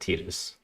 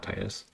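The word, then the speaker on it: Tidus: since they um since the creators came out and said that it's pronounced tetus not Titus unfortunately plugins and add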